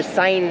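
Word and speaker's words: Seine: and we're walking across the sign River SE i n e the s River that's how I pronounce it uh it's really popular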